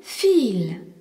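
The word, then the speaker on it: viel: Vi, c'est pareil dans le mot fil. V I E L qui signifie beaucoup. Le I e est un long et le V se prononce feu.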